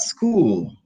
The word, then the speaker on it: school: So SCH is pronounced as sk. School.